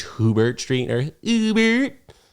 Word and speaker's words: Hubert: it's not French it's hoobert Street or Uber how do you even pronounce that name h-u-b-e-r-t Street down there by the Holland Tunnel I think it's Hubert which is like a ridiculous name anyway yeah I run